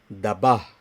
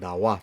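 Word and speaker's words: ཟླ་བ: So this case, you don't pronounce like a Daba Sangmo or Dawa Tsering. You always pronounce Dawa Tsering, Dawa Sangmo. So that's why you can see clearly this sound is changed wa.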